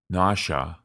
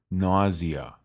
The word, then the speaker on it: nausea: reputation for naughtiness nausea you can pronounce this word in one of two ways nausea or nausea when a person experiences